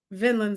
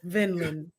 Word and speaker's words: Vinland: crunchy roll your recommendation to me would be vinin Saga Vinland Saga vinin Saga vinan Saga nope Vinland Vinland I said I said Vinland you said